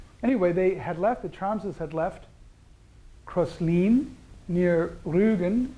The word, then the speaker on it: Thrams: In German it's Trams. They don't have a TH sound.